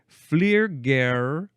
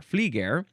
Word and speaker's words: Flieger: It starts with Flairger. That's the FL from Flairger. Flieger. There's no R there. Flieger.